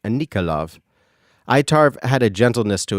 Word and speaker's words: Enikol: It showed me the spelling of her name in my mind, but the pronunciation of the name was something like Anikol.